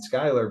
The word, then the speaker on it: Schuyler: It's easier to say than Schuyler, but my mother would be so upset every time someone would say the name wrong because she would think, oh, they're just all wrong.